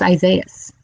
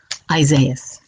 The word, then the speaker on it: Isaias: hurricane isaiahs treat you i don't know why people have a problem pronouncing it isaias is isaias okay people we're